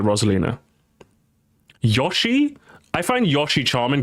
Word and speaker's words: Rosalina: Rosalina or Rosalina? Unless you're Australian, you have no excuse to pronounce it Rosalina.